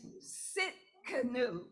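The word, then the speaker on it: Tsidkenu: the forgiveness of sin his name is sit Cano notice the te is silent he's the Lord our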